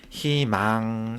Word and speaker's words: 희망: 자, 책에 있는 예시를 보면, 자, 의사는 첫 음절에 오는 의를 가지고 있기 때문에 의사로 발음을 하고, 희망은 자음을 첫 소리로 가지고 있는 음절의 의이기 때문에 희망 이렇게 발음을 해주면 될 것 같습니다.